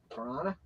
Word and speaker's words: Toronto: Kevin Gosman for Toronto toron Matt now that was a very Canadian melson vquez what do you mean that's the exact way you pronounce in Canada that's toron Cubs we got a Dalton